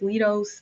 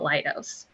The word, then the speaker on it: Leidos: all kind of ways lido's this that is part of kaleidoscope and um it's so we find solutions from multiple angles that is where it comes from so it's called lightos and our mission is